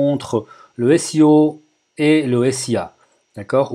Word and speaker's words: SEA: le SEO et le SIA. D'accord? Ou SEA, si vous voulez, en français. On a l'habitude de prononcer SIA en anglais, et puis voilà, on va prononcer ça comme ça dans cette vidéo.